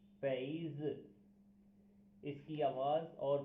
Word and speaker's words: 杯子: आज का हमारा चाइनीज़ जो करेक्टर है वो है पैज़। पैज़। पैज़। इसकी आवाज़ और प्रोनाउंसिएशन को इस तरह लिखा जाता है, या इसके पिनियन ये हैं पैज़।